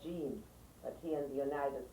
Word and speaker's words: Jean: Because in French it's called Jean, but here in the United States it's John.